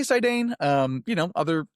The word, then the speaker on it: Sidane: I say Sidane.